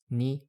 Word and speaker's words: 二: For pronunciation, the Middle Chinese ancestor of most modern pronunciations was ri. This becomes in Chinese, ni in Japanese, and I in Korean.